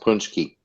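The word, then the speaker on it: pączki: pki oh okay pki yeah P yeah they're pronounced punchki are they fried or baked they fried oh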